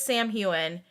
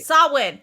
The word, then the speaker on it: Samhain: pronounced it as Sam Hewen. You pronounced it as Salwayne. Salmaine? Oh my god. Salwyn? Okay. Salwyn.